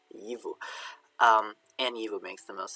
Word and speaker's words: gyfu: So we know this one should be a G. Yivu.